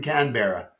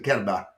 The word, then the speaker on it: Canberra: What I got to do, they don't pronounce R's. So he doesn't live in Canberra. He lives in Canberra.